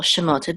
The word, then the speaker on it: Shemot: Mark here this pasta so we know that the accent of the words on the last syllable shimota these These are the